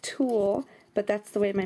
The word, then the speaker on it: tulle: clear bags um ribbon Tulie and I say Tulie somebody said that I was saying it wrong I know that it's pronounced tulle but that's the way